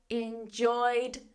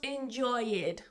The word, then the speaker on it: enjoyed: I enjoyed the play, not enjoyed. Why isn't it enjoyed? Because it doesn't end in T-E-D or D-E-D. It ends in oi. It's voiced.